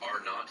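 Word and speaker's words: R₀: Yeah, and that reproduction number, they in the biz, it's pronounced R naught.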